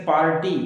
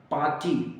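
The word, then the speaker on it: party: नहीं बोला जाएगा गाडन जब भी आर या तो लास्ट में होता है या बीच में होता है तो उसको बोला ही नहीं जाता जैसे पार्टी गलत है पाटी आर नहीं बोला जाएगा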